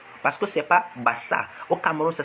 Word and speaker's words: Basaa: Mais lorsque vous prononcez, vous ne dites pas Bassa. Parce que lorsque c'est B, c'est B-A-S-S-A. Donc, ça doit être prononcé Bassa. Mais aucun d'entre vous ne dit Bassa. Mais vous dites toujours Bassa. Mais, donc, ça veut dire que vous prononcez sans toutefois lire. Donc, il y a un son R à la fin. Donc, ça doit prendre R.